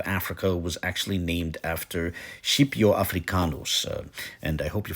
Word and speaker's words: Scipio: classical Latin pronunciation but I hope you forgive me if in this video I run with a slightly more italianate pronunciation sheepo but whatever the case